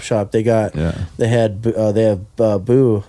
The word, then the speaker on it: Bou: They got they have Boo. Is that Boo or Bao? How do you say his name? BOU. Say boo.